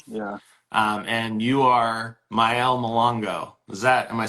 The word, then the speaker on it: Mayele: for the team yeah um and you are myel is that am I saying it correctly correct